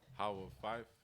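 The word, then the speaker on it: Howe of Fife: But how do you say the whole thing? How of Fife. How of Fife? Yeah, that's exactly it.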